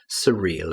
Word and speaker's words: surreal: Again, pronunciation is very important. S-U, surreal.